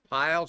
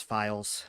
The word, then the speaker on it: Files: Piles, I hope I'm pronouncing that correctly. And next up is Steven Scar. Thank you, sir. It is Files.